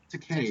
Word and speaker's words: Takei: Takei. Thank Takei. you. Fuck me. Rhymes with gay.